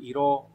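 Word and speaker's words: 色: Ví dụ nó có từ iro, và đọc là iro không đọc là số cự nữa.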